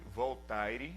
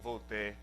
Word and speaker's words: Voltaire: Por exemplo, Voltaire, um filósofo muito conhecido, na verdade se escreve Voltaire, né, em português, mas se pronuncia Voltaire.